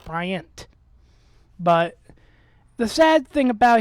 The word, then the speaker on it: Bryant: there's a name wrong it's not cookie Brian it's Bryant but the sad thing